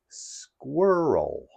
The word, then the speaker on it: squirrel: the day is squirrel squirrel squirrel squirrel has two syllables square and O and the emphasis is on the first syllable Square sounds like like